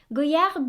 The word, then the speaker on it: Goyard: next we have again so silent d i used to pronounce this as goyard too but that's why